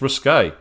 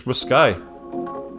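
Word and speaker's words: risqué: not like either it's risque unlessly unless I've always been taught how to mispronounce it it's not risque it's riskay and that wasn't any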